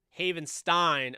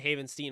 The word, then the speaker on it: Havenstein: my best you know i just realized i i pronoun you know mispronounced rob havens haven stein again i did haven't seen earlier uh it's havenstein i'm you know really